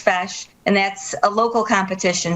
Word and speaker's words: feis: Now, Sandy, you'll have to explain to us what a face is. What? I'm sorry, say that again? What a face is. Oh, a fash. Fash. A fash. Okay, so I read it wrong from the site.